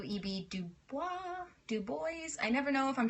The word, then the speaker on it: Du Bois: of black folks by w eb du bois du Bois I never know if I'm trying to be